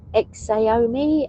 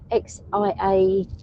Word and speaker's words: Xiaomi: Sammy Lee Rose said, Exomi, I can't pronounce it. Xiaomi.